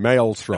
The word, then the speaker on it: Maelstrom: person pronouncing it so apparently in Britain they pronounce it Maelstrom males from I think if they're